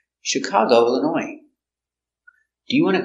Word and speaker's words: Chicago: Detroit very good example Chicago comes from French so we pronounce it soft she Chicago is the accent